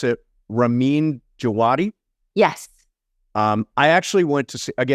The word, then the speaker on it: Ramin Djawadi: Yeah, one of the things I love about the show so much is the music, composed by, I think you pronounce it, Ramin Djawadi.